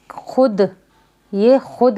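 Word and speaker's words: خود: जैसे ये खुद है, हालांकि इसमें वाव है, तो इसको क्या करेंगे? हम साइलेंट करके पढ़ेंगे। खे को दाल से डायरेक्ट मिलाएंगे, वाव को नहीं पढ़ा जाएगा, सिर्फ हम इसमें लिखेंगे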